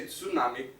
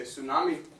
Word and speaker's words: tsunami: Japanese words instead of we don't say tsunami because in English phonology we can't have a sub at the beginning here so we say tsunami we keep the spelling just alter the pronunciation same with outside we